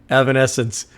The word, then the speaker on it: Evanescence: Evan essence makes more sense.